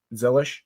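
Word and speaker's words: Zilisch: week we also have Conor zelish zil how do you pronounce his last name you said it right Z zelish yep he'll be making his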